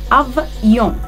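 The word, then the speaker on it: avion: انا عايزه الصوت ده يطلع يون. ما حدش يجي يقول لي يون، غلط. اف يون، افيون، افيون طياره.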